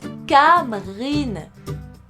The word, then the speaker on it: Camryn: Karine Garrett, Gaëlle, ça se prononce Kamrine. Ou pas, ça se trouve.